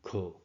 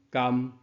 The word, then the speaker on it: 丂: 读音咳。即句的用法通常用伫较无明确的肯定，例句可见、可能、可是等。可或者读音甘，带有疑问的口吻，例句敢好、敢毋是。